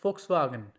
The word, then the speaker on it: Volkswagen: November, it sounds like November because V sounds like fow. For example, like Volkswagen. Volkswagen, that means people's car.